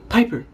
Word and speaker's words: Piper: And the thing she says, Piper rhymes with Viper.